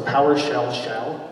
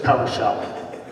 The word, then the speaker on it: PowerShell: So do you have to say shell twice? So PowerShell shell, is that how you say it? I'm opening a PowerShell shell? No, it's just PowerShell, okay.